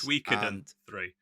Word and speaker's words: Suikoden: Suikoden 3. That's how you pronounce it.